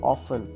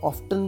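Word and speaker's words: often: Next हमारा point है हाउ ऑफन, और हम इसको ऑफ्टन भी पढ़ा जाता है, ऑफ टी साइलेंट भी रहता है।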